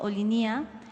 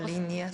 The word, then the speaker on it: Olinia: equipo revisara la pronunciación ellos afirman que la pronun es olinia o sea Ajá olinia bueno ser oline sino olinia sería cosa de que